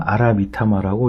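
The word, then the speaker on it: 荒魂: 화호는 왕의 곁에서 목숨을 지킬 것이고 화호는 니키미타마라고 읽고 황호는 아라미타마라고 읽는다.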